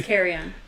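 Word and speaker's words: Carillon: word car Caron car it's Carion and you with the L's just aren't there yeah uh Beach um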